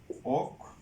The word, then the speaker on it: অক্ষ: উদাহরণ দিই, আমরা যেমন দেখি অক্ষ, অক্ষ প্রথমে অ আছে, পরে ক্ষীয় আছে, তাহলে এটার উচ্চারণটা হবে অক্ষ।